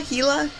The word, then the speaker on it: Gila: hila monster oh yeah as a kid I used to call it Gila monster but I think everybody did right whoever heard of a silent G Gila heila it's all and then